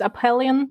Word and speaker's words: Aphelion: Okay, it's Aphelion, like the astronomical term.